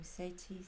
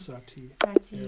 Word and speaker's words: Satie: His name Satie. I never know how to say that. Satie.